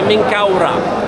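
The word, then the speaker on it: Menkaure: Kura, también aquí se ve, eso es la letra Men, las las los brazos alados aquí o están ah abiertas, eso se se pronuncia en Kau. El disco solar Ra al final, por eso se pronuncia Menkaura.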